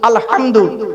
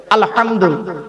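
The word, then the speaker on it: الحمد: করে নিন মুরুব্বিরা আলহামদু আলহামদু এ গলার ভেতর থেকে হেটা উচ্চারণ করবেন আলহামদু আলহামদুলিল্লাহ মানে হচ্ছে সমস্ত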